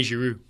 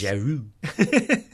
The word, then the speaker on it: Giroud: You mean Olivier Giroud? Yes, excuse me. I'm telling you before we get the tweets. Giroud. No, you're overpronouncing it. Giroud.